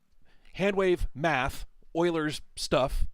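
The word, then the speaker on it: Euler: different amplitudes right so it's it's wave math Oiler stuff it's it's spelled uler by the way but it's pronounced Oiler um I remember that much from college uh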